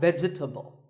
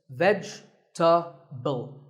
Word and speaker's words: vegetable: a lot is vegetable it's not vegetable if you say it correctly there are only three syllables vegetable vegetable let's talk about a